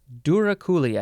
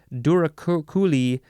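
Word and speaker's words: douroucouli: okay the next word this is duraculi durakuli I think that is how you pronounce it it is spelled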